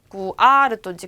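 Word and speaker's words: cuarto: 모음으로 끝나면 뒤에서 두 번째의 액센트가 올 건데 꾸아르또라는 단어를 꾸아르또 모노톤으로 읽었을 때 꾸아르또인지 꾸아르또인지 어떤 걸 발음을 넣어야 되냐 강세를 넣어야 되냐 그러면 꾸하고 우하고 아하고 만났어요. 누가 더 세다? 아가 세다. 꾸아르또 요렇게 레이나 발음이 R이니까 R의 발음이 나야 되니까요.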